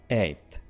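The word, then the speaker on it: eighth: ठीक है आपने इसको सिंपल सा बोलना है एथ अब आपको कर बोलने की जरूरत नहीं है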